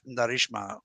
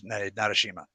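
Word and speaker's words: Narasimha: What if I told you that the children of Narishma are here to fight the Asura as we speak? Yeah. And I pronounced absolutely bullshit. It was Narashima.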